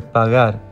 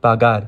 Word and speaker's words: pagar: However, everywhere else, the letter G is pronounced with a soft G sound, which doesn't really exist in English, but just think of it as a soft G sound. Examples for this are pagar, abogado, not pagar, abogado.